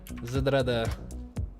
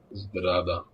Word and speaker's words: Zdrada: Zdrada. That's it? Zdrada? It's much less pronounced than I thought it was. It flows into the Z and D much more than I thought it would.